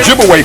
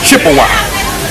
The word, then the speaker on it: Ojibwe: twice and of course they corrupted the pronunciation of those Ojibwe people to Chippewa absolutely so Chippewa and